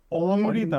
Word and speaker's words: অমৃতা: Exactly ওখানে একটা ছিল অমৃতা নামও ছিল ওই হ্যাঁ আমাকে যেখানে তো সবাই অমৃতা বলে then I say যে না it's অমৃতা first A is O the second A is E এ, পুরো অনেক অনেক পুরো।